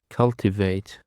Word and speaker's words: cultivate: Cultivate. Cultivate is have three synonyms. Sorry. Um cultivate is have three syllables and um the stress is on the first syllable.